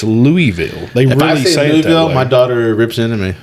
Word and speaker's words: Louisville: do you pronounce it so there's there's two ways i would say louisville as well but if you talk to a lot of people from there it's louisville my daughter rips into